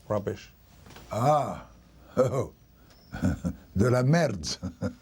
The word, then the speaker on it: merde: Ah, oh, de la merde. How do you spell that?